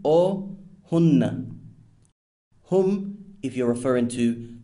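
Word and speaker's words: هنّ: It's important to note that Arab grammarians consider pronouns, for example, he, pronounced huwa, she, pronounced hiya, they, pronounced hum or hunna.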